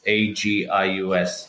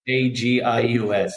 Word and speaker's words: Agius: I think the best place is my Instagram page, which is Neil, and then it's Agius. I'll spell it. Agius, yeah. Agius, Neil Agius.